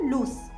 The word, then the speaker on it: loose: और हमारा next word जो lose है इसमें s को s ही प्रोनाउंस किया जाता है और ये एक एडजेक्टिव है।